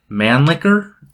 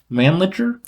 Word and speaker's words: Mannlicher: It was the Mannlicher? Mannlicher? I don't know how to say it. I like Mannlicher. I don't like Mannlicher, but... I think it's pronounced Mannlicher. Yeah, Mannlicher Carcano 6.5 millimeter Italian rifle.